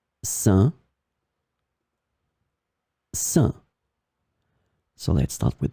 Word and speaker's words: sein: In this lesson, we will see together 3 words that are written differently but pronounced the same way. Sain, sein, sain.